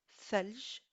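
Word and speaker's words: ثلج: Donc, c'est un TH comme le TH anglais de thanks. Donc, exemple, thalj pour glaçon et thania pour seconde.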